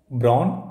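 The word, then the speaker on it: brawn: मतलब होता है physical strength you should have ब्रान along with your mind मतलब दिमाग के साथ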